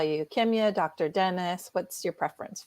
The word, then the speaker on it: Kimya: you would you like us to call you kimya dr dennis what's your preference for today you can call me doctor so my name is pronounced kemia so it's spelled and i pronounced the long